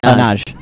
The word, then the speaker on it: Nagy: I think Nagy. Naj. It's the Y is silent. Naj.